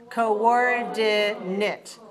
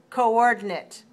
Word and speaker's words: coordinate: Coordinate. When we look at the dictionary, we'll see co.or.di.nate. 3 dots means 4 syllables. And we'll see that the stress is on the second syllable, so 4-2 coordinate.